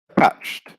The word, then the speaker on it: attached: And the adjective would be attached. So again, still second syllable stress in this case for the adjective.